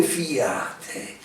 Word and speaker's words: fiate: parti, sicché per 2 fiate, Dio lo fa sentire bene, con una dieresi, vero? La fa diventare trisillaba sta parola fiate, per 2 fiate li